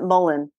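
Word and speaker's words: mullein: do you pronounce it Mulan or do you pronounce it Mullen I hear it pronounced a bunch of different ways it's verbascum thsis I would pronounce it Mullen M Mullen okay so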